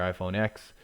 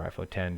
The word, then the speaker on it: iPhone X: So your iPhone X or iPhone 10, depending on how you say it, 3 GB.